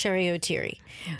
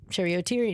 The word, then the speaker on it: Cheri Oteri: And he goes, I would like to know, how would you like me to pronounce your name? And to me, I didn't think that there was any other pronunciation than Cheri Oteri. And I go, whatever you think is best. And he goes, I like the rhyme. It rolls off the tongue.